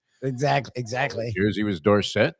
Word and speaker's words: Dorsett: It's kind of like mispronouncing Tony Dorsett. Exactly. Jersey was Dorset. Then when he came out and said it's Dorset, we said, okay, Tony Dorsett.